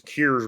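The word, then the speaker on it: Coors: yeah it's like that it's not cores it's cures Brink beer if I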